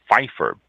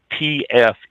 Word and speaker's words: Pfeffer: Students at California Wine History found that Cabernet Pfeffer, P-F-E-F-F-E-R, Cabernet Pfeffer, I would assume the P is silent.